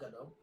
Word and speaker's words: Gadot: Dot get out Peter it's like Gal Gadot there's a t at the end but okay you probably